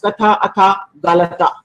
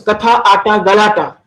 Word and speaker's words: Katha Ata Galata: No, ma'am. It's called Katha Ata. Katha is storytelling, Ata is Yeah. playing, and Galata is drama. Okay, so Katha Ata Galata.